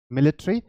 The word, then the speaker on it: military: Okay, now 24 our time system, जैसा मैंने आपको बताया, मिलिट्री, आप इसकी प्रोनाउंसिएशन मिलिटरी भी आप कर सकते हैं. तो मिलिट्री और मिलिटरी, police, railways, aviation, medical and others, ये टाइम फॉर्मेट वहां पे यूज होता है.